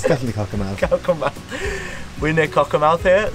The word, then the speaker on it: Cockermouth: I don't know how to pronounce it. It's definitely Cockermouth.